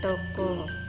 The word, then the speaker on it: toko: Vokal O cecek ini diucapkan seperti vokal O yang pada bahasa Indonesia. Lambang ejaan untuk vokal O cecek yang kita pakai adalah O kecil. Contoh toko, toko, toko.